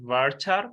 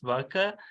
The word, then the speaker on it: varchar: Most of the people pronounce it varchar, but it's worker.